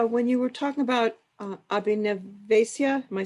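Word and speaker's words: Abhiniveśa: Yeah, when you were talking about Abhinavesya, am I saying it right? Abhinavesya.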